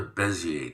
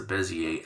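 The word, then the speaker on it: Bézier: It's called a Bezier tool, technically, and Bezier, and that's spelled B-E-Z, B-E-Z-I-E-R, Bezier. It's a French word, and it means curve.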